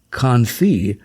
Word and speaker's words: confit: Today's menus are more likely to feature the word confit, which is pronounced confit, and it means cooked in its own fat.